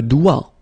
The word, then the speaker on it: doigt: Le doigt. Okay, so don't be frightened by this G because basically you don't pronounce it and then the final T you don't pronounce it. So the only thing you get to pronounce